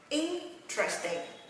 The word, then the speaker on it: interesting: Và nó không nhấn âm interesting, nhấn âm 3 nha, mà nó nhấn âm 1. Đọc cùng Thủy nha. Interesting, interest.